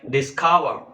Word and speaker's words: discover: are three syllables and if it is a verb then the second syllable is stressed like discover discover there are three syllables disc discover so the second syllable is stressed why because it is a verb and it is a tri syllabic word uh there are some